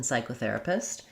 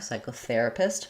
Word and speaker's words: psychotherapist: We have stress on the first syllable of psy and then the syllable ther, psychotherapist. Main stress is going to be on the ther syllable. Letters ER in therapist say the air diphthong. Letter A says the and then we have an I sound at the end. So I would write that like therapist. And then for psycho, the P is silent.